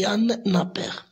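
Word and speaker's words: Jan Knapper: C'est pour ça que le nom ne se prononce pas comme il est écrit. D'accord? Donc c'est Jan Napper.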